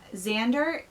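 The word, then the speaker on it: Xander: this book I believe what's his name Zan I think that's how you pronounce it x a n d e r I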